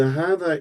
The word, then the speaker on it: هذا: So the hada is pronounced as if it were written with the alif.